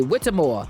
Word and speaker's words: Whitmore: Am I AKA Lonnie pronouncing Jones. her name Whittemore. correctly? Whittemore.